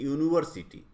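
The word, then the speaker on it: university: करते हैं यूनिवर्सिटी, ए यूनिवर्सिटी। तो यूनिवर्सिटी कैसे आप लिखते हैं हिंदी में, ऐसे लिखेंगे यूनिवर्सिटी। तो यहाँ य आ रहा है, ये प्रोनाउंसिएशन वाई का आ रहा है, यू का नहीं आ रहा है।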